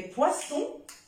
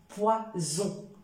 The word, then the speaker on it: poisson: assez de place mais poisson alors deux s ça se prononce mais un seul s ça se prononce poison poison alors si jamais on commet l'erreur de décrire deux s le sens va changer il y a des